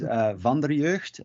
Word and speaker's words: Vanderjeugd: is with the team sure and and proper pronunciation of your last name oh if you do want to go there it is Vonda reversed it means of the youth in you can